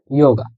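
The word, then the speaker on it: Yoga: এরপর উপসিলন দিয়ে যেটা, উপসিলন ও গে আ, একত্রে ইয়োগা। ইয়োগা বা যোগব্যায়াম যেটা। দেখেন, আমি বলছিলাম যে অক্ষের উচ্চারণ আর শব্দের উচ্চারণ সবসময় এক নাও হতে পারে।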